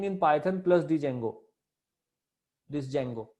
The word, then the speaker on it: Django: This Django, D is silent here.